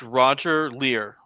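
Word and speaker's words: Roger Leir: It's Roger Lear.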